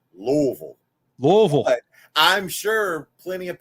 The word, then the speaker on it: Louisville: Obviously, you think it's Louisville. What's the correct way to pronounce your city? We always, every hardcore Louisvillian says Louisville. Louisville. You gotta say it like there's peanut butter in your mouth.